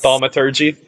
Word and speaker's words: thaumaturgy: So I have what is called I don't even know how to pronounce this. Thaumaturgy.